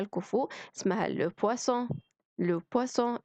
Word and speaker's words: poisson: le poisson السمك اللي هي ب تقيلة.